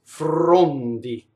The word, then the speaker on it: frondi: So this R touches an F, so it is Frondi.